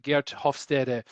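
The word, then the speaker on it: Geert Hofstede: here with the uh off Steve's model right or guert hofstede is a little bit more of the the Dutch pronunciation um I just looked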